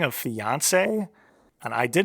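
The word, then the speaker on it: fiancée: It's pronounced the same for both, but yeah, I don't know.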